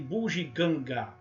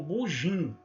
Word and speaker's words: bugiganga: E mais esquisito é a variante de bugiganga. Veja, as primeiras duas sílabas são orais, bugi. e as pessoas pronunciam bum, gi ou bujim, ou fazendo as duas, bum, ginganga.